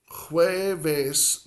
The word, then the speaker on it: jueves: Now, in Spanish, la J, the J, has a soft sound. So, jueves, another two-syllable word for day of the week. Jueves, it's almost like you're saying jue, jueves, jueves. So you get a soft